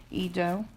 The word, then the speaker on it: Edo: do I think it was it was we pronounced it Edo so yeah it looks like we have some